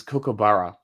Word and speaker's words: kookaburra: It's Kookaburra. So it's spelled like this.